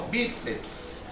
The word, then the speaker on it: bíceps: A sílaba tônica, ó, bíceps. Ó. Perceba que a sílaba tônica é o bi.